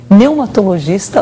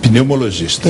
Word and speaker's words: pneumologista: Hoje também aqui Alexandre Milagres, que é neumatologista, opa, coordenador do Centro de Apoio ao Tabagismo. É assim mesmo que pronuncia a a sua especialidade? Eh, pneumologista.